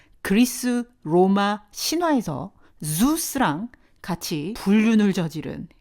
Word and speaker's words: Zeus: 한국어로는 제우스 이렇게 3syllable이 되지만 영어로는 1syllable이에요. zeus 하시면 되거든요. zoo 동물원이죠. 거기다가 S 살짝 붙이신 발음하고 똑같습니다. zeus 하시면 되고요.